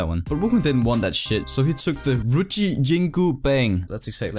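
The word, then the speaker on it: Ruyi Jingu Bang: that so he took the ri jingu bang that's exactly how you pronounce it just trust me in this one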